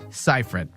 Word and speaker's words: Seyfried: you got the first name right it's Amanda Seyfried by Fred really yeah 0 for 3 yeah